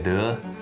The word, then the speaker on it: deux: Part deux. That's it. Is that how you say it? Deux. You got it. Yeah, you got it.